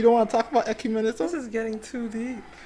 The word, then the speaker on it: ecumenism: I can't even pronounce the word. How do you say it? Ecumenism. Ecumenism.